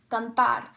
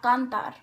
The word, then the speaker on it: cantar: Counting from the last, well, you don't need to count from the last because the last syllable is where the stress is supposed to be. The word is pronounced cantar, not cantar.